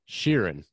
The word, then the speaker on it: Scheeren: how you say it sheeran all right just like ed sheeran i was just gonna